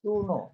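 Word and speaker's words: Couinaud: L classification and Kuno it is to be pronounced as Kuno Noto it is a French name so it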